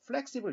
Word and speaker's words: flexible: 그리고 이제 IBLE를 able 이렇게 발음하, flexible 이렇게 발음하는데 e로 발음하지 말고 영어의 e자는 약한 그래서 flexible 이렇게 발음을 해주면 되겠죠.